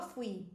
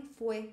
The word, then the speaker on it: fui: Jo, fui, eu fui. É muito comum que os brasileiros falem foi ao invés de fui.